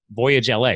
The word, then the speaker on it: VoyageLA: Like Voyage LA, right? Like at Los Angeles?